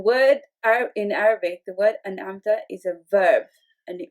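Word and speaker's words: أنعمت: Now, when the word is mispronounced, when the sukoon is mispronounced, okay, what happens is we turn it into ana amta. Ana amta. What we are essentially doing is breaking the word into two when it is actually one word. Okay? In being it one word, we have to say as an amta, and the mispronunciation is ana amta.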